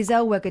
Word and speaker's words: Zellweger: She was before Renee Zellweger did it. But they tend to go posh, don't they? I pronounce the W as a V.